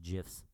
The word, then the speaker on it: GIF: GIFs. Whatever. Same thing. What I'm saying is, it would have been. It's pronounced GIFs.